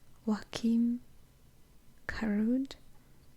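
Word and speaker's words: Joakim Karud: it it's spelled I mean that's how it's pronounced Wakim kud because it says j o a k i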